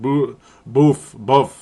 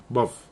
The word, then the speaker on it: Boof: Buff. Yep. I'm never going to say it right. I am never going to say it right because of Boof Bonsar.